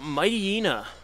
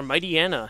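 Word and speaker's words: Mightyena: Jay Lynn sent out Mighty Ena, or Mighty Anna, depending on how you want to pronounce it.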